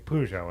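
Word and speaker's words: Peugeot: said no we don't we in America this is how it's pronounced and that's how I pronounce it so the car brand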